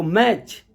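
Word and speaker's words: match: है कैच सी eighty C एच है तो मैच M eighty C एच है कभी भी अगर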